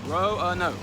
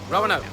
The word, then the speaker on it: Roanoke: It's R-O-A-N-O-K-E, and it's pronounced Roanoke. Roanoke.